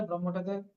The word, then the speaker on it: ব্রহ্ম: দেখুন উপনিষদের যারা লেখকরা আছে যারা ভাষ্যকার আছে তারা কিন্তু উদাহরণের মাধ্যমে ব্রহ্মটাকে বোঝানোর চেষ্টা করছে। তারা কি বলেছেন? ব্রহ্মের মধ্যে এই উচ্চারণটা কিন্তু সঠিক শব্দ হচ্ছে ব্রহ্ম।